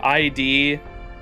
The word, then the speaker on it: Id: That's how Tip said to say it. And that's been perfect so far. I I said it another way, too. I D Eid eyed. It's id lid without the L.